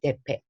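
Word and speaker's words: Deppe: 1885년 독일의 저명한 지휘자이며 피아노 교수인 루트비히 데페. 자, 대패. 우리나라 말로 하면 무슨 대패질 하나 할 때 이거 나무 가는 대패랑 저기 그 발음이 비슷하죠?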